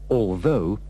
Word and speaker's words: although: pronunciation of the words although and though the o u h at the end is pronounced with the sound of the O in go although he was very ill